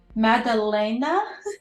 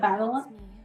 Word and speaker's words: Madalena: I played, you all said my name wrong half this time. It's Madalena instead of Madeline.